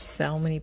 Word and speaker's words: salmon: little bit of this salmony pink color i believe it's called salmon americans do not pronounce the l which i find odd